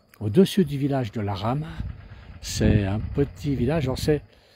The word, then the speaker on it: Ramaz: Le le village de la rame, ça s'écrit Ramaz. Mais en ça voyant, on prononce pas les Z, pas toujours. Et là, c'est la rama.